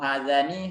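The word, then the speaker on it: هذان: Ya, jadi ha ini bacanya semuanya panjang ya. Mau hazihi, mau hazani, haza semuanya hanya dibaca panjang. Walaupun tulisannya pendek, tapi dibaca panjang.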